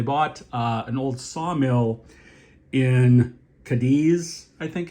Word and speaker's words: Cadiz: So they bought an old sawmill in Cadiz, I think it's pronounced, C-A-D-I-Z, New York.